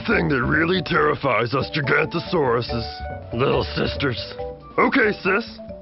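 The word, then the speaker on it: Giganotosaurus: I'm Gigantosaurus, the longest meat-eating dino who ever lived. You say my name like this. Jig-Ant-O-Saurus. It means giant southern lizard.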